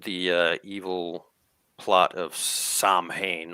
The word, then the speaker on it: Samhain: uh evil plot of samhain or sawin as as many jokes those familiar with the occult pronounce the name or the first episode